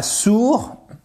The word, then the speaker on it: sour: salty sont généralement sal attention ce n'est pas sourd ok sour ça se dit d'ailleurs